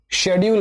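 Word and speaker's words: schedule: আগের দিন কি বলেছিলাম, ব্রিটিশরা শেডিউল বলে, আমেরিকানরা সেম জিনিসটাকে স্কেডিউল বলে।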